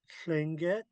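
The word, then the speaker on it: Tlingit: So when you see this, it's really Klinget. But of course they also spell it with a T.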